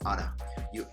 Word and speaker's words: ought to: And as you notice, many times in American English, it is pronounced as oughta. They oughta get a new job, or I oughta talk to the manager.